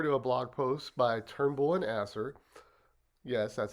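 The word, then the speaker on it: Turnbull & Asser: let's pop over to a blog post by Turnbull and Asser yes that's how you pronounce it um which by the way bonus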